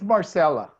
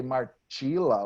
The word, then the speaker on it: Marcela: Your name is Marcela. Marcela. Marcela. You're not going to say Marcila or whatever. Marcela. Like Marcia. Probably they say Marcia.